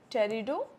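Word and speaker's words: Pteridophyta: उसके बाद हमारा लास्ट ग्रुप है टेरिडोफाइटा। अब इसमें पी क्या है, साइलेंट है, ठीक है, पी क्या है, साइलेंट है, ठीक है।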